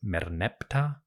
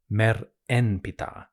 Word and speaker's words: Merneptah: Today, you'll often find the king described as Merneptah or Mer en Ptah, both of which are perfectly valid and functional. For the ancients, though, it was probably pronounced something like Ma ne Ptah Khetep her Ma'at. We learn that from letters received from rulers in Syria, which I'll explain shortly.